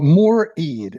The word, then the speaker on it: Moore-Ede: Well, Moore Eid is how it's pronounced.